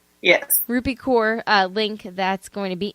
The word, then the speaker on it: Rupi Kaur: Check out the Rupi Kaur. Did I say it right? Yes. Rupi Kaur link that's going to be in the show notes.